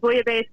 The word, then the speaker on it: bouillabaisse: And I just have to say that Braden, you pronounce base correctly. The elves are not pronounced.